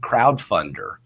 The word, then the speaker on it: Crowdfundr: this other website called crowdfunder uh spelled like grinder no e like you guys said